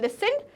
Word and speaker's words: listened: ये स्पेलिंग सही है बिकॉज टी जो होता है स्पेलिंग में वो साइलेंट लेटर होता है। तो लिसनड बोलेंगे कभी टी नहीं, लिसनड नहीं बोलते, टी जो है वो साइलेंट रहेगा और लिखने में टी हमेशा आएगा। तो प्रोनाउंसिएशन होता है लिसनड, बट टी आता है